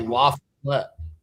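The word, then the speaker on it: LaFollette: I think it's French. RJ, it is. I thought you were just mispronouncing Lafayette. It's definitely Laflet.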